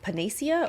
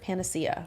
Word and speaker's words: panacea: that as like a I don't know like panasia or what's the how do you pronounce it Panacea right they see that as the sort of